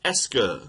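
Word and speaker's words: est-ce que: word and it's called es Esa Esa that's pronounced Esa right so it's Esa with a QE if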